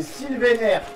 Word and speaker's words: Sylvainer: C'est Sylvainer, si on le dit bien comme il faut. Sylvain avec fini par ER. Sylvainer. Ok, bravo Sylvainer, tu as gagné. Est-ce que tu as une imprimante 3D? Sylvainer, est-ce que tu peux